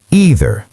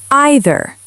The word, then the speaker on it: either: 2 ways to say either. American English, either, like teeth. British English, either, like I. Both are correct.